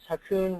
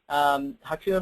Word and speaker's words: Ha Kung: My name, again, is Hakun. Hakun rhymes with raccoon, so now you'll never forget it.